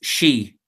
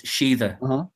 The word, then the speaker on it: Sidhe: Two worlds, one, I would say, owned by Sidhe. Sidhe? How do you pronounce it? Yeah, you see, that's very difficult. The modern Irish pronunciation is she, but an older pronunciation, the older one, is Shida.